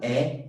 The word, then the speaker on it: é: The accented E means is, like the pronunciation is very different. This is open E. Meu nome é.